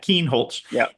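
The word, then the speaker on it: Kienholz: Keen Holtz and uh it's a they you know Ryan Day's choice is going to involve a choice of styles.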